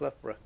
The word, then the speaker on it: Loughborough: That's pronounced Loughborough.